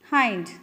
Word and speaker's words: whined: Hind. The pronunciation, this word is hind.